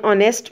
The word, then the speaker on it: honest: An honest man. Here is H is silent, definitely, and O sound is pronounced here.